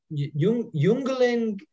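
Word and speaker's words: Jüngling: And here you have for, the J is pronounced like Y in German, for Yisrul, Bedente or Gedente, Jungling, and Junge Freund, probably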